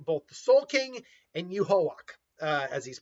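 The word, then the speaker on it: Yhwach: the ability of both the Soul King and Yuhawak, as he's pronounced.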